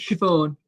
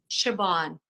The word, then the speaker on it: Siobhan: And how do I say your first name? It's Siobhan. Siobhan. Siobhan, yes.